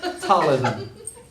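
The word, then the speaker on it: ptyalism: called pism it's called talism a heavy T pretend you're saying a p but don't actually say it talism t that's how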